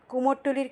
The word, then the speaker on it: কুমারটুলি: দুর্গাপুজো উপলক্ষে কুমোরটুলির খ্যাতি এবং ব্যস্ততা ক্রমাগত বেড়েই চলেছে। কুমারটুলি, কথ্য উচ্চারণে কুমোরটুলি, কলকাতার উত্তরভাগে অবস্থিত এই কুমোরটুলি পাড়া।